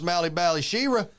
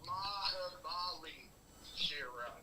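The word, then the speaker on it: Mahabali Shera: I can pronounce Mally Bally Shira. It's Mahabali Shira.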